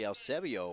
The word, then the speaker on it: Eusebio: Talked to him before the game and asked him how to pronounce his name. He said, you know, it's EU, but it's really Eusebio, which a good kid, loves playing for Miami.